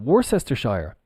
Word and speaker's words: Worcestershire: The pronunciation is Worcester. Well, we've got the Shire. Maybe I'm mistaken. Maybe they do it like this on the bottle. I'm not sure if it's... Well, this is pronounced Worcester. And then if we add the Shire on, it becomes Worcestershire. Sure. Like sure, yeah. Okay, no problem. Sure. Worcestershire. Worcestershire.